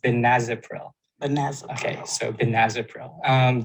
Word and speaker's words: benazepril: saying it sometimes um it's actually pronounced benazepril vanessa okay so benazopril